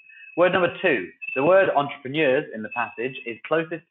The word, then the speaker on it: entrepreneur: line to the word entrepreneurs okay this is a word that English has stolen from the frenches all that kind of interesting spelling and pronunciation entrepreneur at the end of word they're newer you might want to